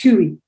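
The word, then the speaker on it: хуй: dick which is a in russian it's pronounced huey an expletive that frequently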